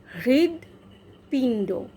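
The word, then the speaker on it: হৃৎপিণ্ড: হৃদয় নয় হৃদ দয় হৃদ পিণ্ড হৃদ পিণ্ড পিণ্ড যখন বলছি পিণ্ড হৃদ জীবটা তালুতে লাগাচ্ছি হৃদ পিণ্ড ঠোঁট দুটো ঠোঁট জোড়া করে পিণ্ড প আবার হৃ জীব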